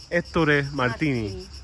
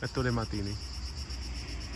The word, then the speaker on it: Ettore Martini: How do we pronounce his Ettore Martini. Ettore Martini.